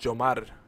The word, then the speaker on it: Yomar: In Spanish, it's pronounced Jomar. The Y is a J sound. Jomar.